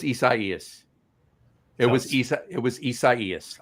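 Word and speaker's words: Isaias: We were uh uh you know sitting on lawns with Hurricane Isaiah. No, it was Isaaias.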